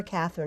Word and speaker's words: Cathryn: Catherine Miller Wilson and her Catherine is spelled CA thr YN right Catherine yes and truth in advertising I'm